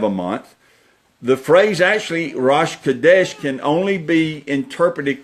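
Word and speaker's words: ראש: word there you go rush rush are oshg pronounced rush maybe I know what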